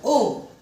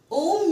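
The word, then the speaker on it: homme: For example, Om. Om, H is silent. So, we are going to say Om. Om means men.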